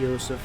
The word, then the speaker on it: Joseph: whatever his name is he pronounced it yosef in the first video